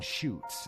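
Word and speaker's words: Chutes: you guys can just look up the Beast of seven shoots and shoots is spelled CH UTS it's quite an interesting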